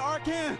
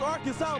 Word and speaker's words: Arkansas: Ain't Arkan. It's Arkansas, baby.